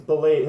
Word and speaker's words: Belial: Okay, it Fine, is Belial. Ball. It's Belial. His But- name is but- pronounced but- Belial.